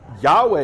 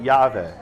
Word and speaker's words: Yahweh: what evidence we have biblical evidence yahweh is the common understanding of most scholars today that was introduced in 1699 he was a church father who around the year 45 450 ce or a.d he wrote that the jews don't pronounce the name the tetragrammaton but the samaritans call it yahweh if that have something